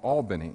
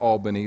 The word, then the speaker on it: Albany: South Georgia to a town that I unfortunately called Albany it's spelled a l b a n y and when I shared with the people in south Georgia that I really like Albany they corrected me immediately and said Albany is in New York